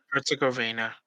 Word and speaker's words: Herzegovina: Herzegovina.